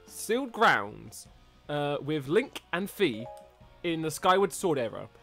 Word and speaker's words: Fi: Oh, it's pronounced Fi. And together they drove away the dragon knight Volga. But despite the victory, I didn't know it's pronounced Fi.